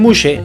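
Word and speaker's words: muxe: muxse por una x se pronuncia como si fuera una s y una h a estas personas se les suele considerar como un tercer sexo y esto es lo que más quisiera un Muse nace varón pero se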